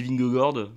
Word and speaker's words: Vingegaard: sa petite prononciation mais la vraie de vraie il me semble que c'est bingo Gordes moi j'ai toujours des vignes gardes parce que ça sonnait